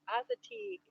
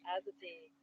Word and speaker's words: Assateague: Marcy says it's pronounced Assateague. As a T. Assateague.